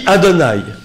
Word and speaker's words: Adonai: ne peut pas prononcer, qui se dit Adonai, Aleph, Dalet, Nun, Yud. Donc Adonai, qui veut dire